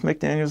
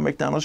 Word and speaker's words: McDaniels: It's McDaniels, not McDonald's. Rhymes with Darryl's, Burgers, or Ronald's.